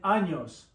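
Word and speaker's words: año: month and an an that n is like a with a till is like the n y an an year and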